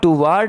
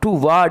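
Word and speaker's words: toward: टुवर्ड them are टू टुवर्ड नहीं पढ़ना क्योंकि इसमें आर साइलेंट है एंड पॉइंटेड टू वर्ड वाड वा वड ल वड टू वड एंड पॉइंट पॉइंटेड टू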